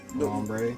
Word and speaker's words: Lombre: Is it pronounced Lombar or Lombri? Lombre.